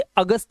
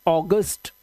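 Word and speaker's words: August: हिंदी में तो इसे अगस्त पढ़ते हैं। अगस्त अ की आवाज। लेकिन ये इंग्लिश का वर्ड है। तो इसे आप पढ़ते हैं ऑगस्ट।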